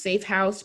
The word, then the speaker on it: Safe HQuse: It's pronounced Safe House, but it's like headquarters for the HQ.